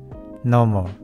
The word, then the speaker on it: normal: なっています日本語だとノーマルっていう感じで 3 泊で発音すると思うんですけど英語の発音の場合は 2 泊でノモていう感じになりますそしてこのシブルごと